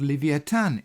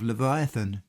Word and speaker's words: Leviathan: the screen is called Leviathan in the Bible, this being how the name is pronounced in the Hebrew. You may be more familiar with the widely accepted pronunciation of Leviathan.